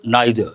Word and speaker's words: neither: Remember, either or is a conjunction, neither nor a conjunction. But here, either, neither. You can also pronounce as either, neither.